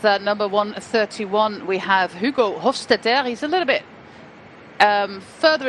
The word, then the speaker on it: Hofstetter: So you can imagine that Hofstetter, as you should pronounce it apparently, is a man who